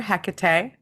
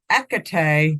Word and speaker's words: Hecate: You know, I would like to just quick start with people pronounce it differently. You might also hear Hecate. Or Hecate with no H. I think that's more the Greek pronunciation, but I don't know.